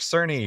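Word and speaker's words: Cerny: it was revealed by Mark cery who I apparently was calling Mark Kerney and I was wrong but now I know how to pronounce it correctly so thank God for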